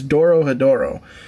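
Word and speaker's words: Dorohedoro: it wrong doro hedoro i spelled it wrong in the title that's why i'm saying it wrong it's doro hedoro and i filmed this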